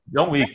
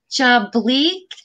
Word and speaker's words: John Wick: John Wick. You can find. Yes. You can find on Amazon Prime. Exactly. Version one, first, second, John third. John Wick. Joey. John Wick. John Bleak.